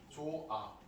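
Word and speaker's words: 좋아: 자, 어떻게 발음해요? 조아. 히읗이 어떻게 됐어요? 없어졌죠? 히읗 뒤에 뭐가 오면 이건 항상 수학 공식처럼 공부하셔야 된다고 했죠.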